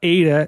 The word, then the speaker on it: AITA: Today I'm joined by a pop punk band from Baltimore, Ada. Welcome to the show. What's up? Hey yo. Now Ada is spelled AITA.